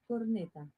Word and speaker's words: corneta: Bugle in Spanish is corneta.